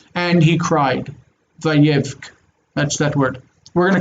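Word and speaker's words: ויבך: Vayevk, this has a hard C on the end, a hard K.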